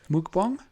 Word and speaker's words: mukbang: eat but yeah my word yo jesus is pronounced mukbang it's so freaky but i do get hungry